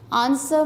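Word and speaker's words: answer: आंसर में W silent है।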